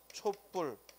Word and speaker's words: 촛불: 명사가 만나서 발음 햇더니 초부리 아니라 모르 바르는데 촛불 파고 된 소리가 발음 됐어 그러니까 명사 명사 가 만났는데 된